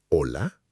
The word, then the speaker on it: hola: La H en español es siempre muda. Muda significa que no se pronuncia, que no hace ningún sonido. Hola, hotel, hablar.